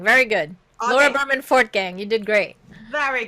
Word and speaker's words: Fortgang: it wrong but i'm gonna try laura berman for gam pretty pretty darn good fort gang very good laura berman fourth gang you did great there we go and uh